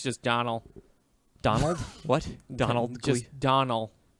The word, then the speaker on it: Domhnall: Sony sure it's just Donald Donald what Donald just Donal I think it'll spell Domna hall so yeah but he he doesn't pronounce the H Donald Lisa he said